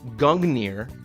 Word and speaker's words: Gungnir: So he's going to throw Gungnir, that's how we're going to pronounce it, which is he's going to throw